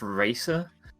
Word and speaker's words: RASA: does rasa stand for actually it's pronounced racer oh no not to